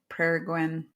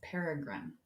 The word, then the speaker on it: Peregrine: So at the end of 2024, I did an episode with Lindsay from Peregrine Equine Therapies, which hopefully I pronounced that right. I did not pronounce that right. It's Peregrine.